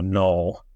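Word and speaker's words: Knull: Oh yeah, Null, spelled with a K.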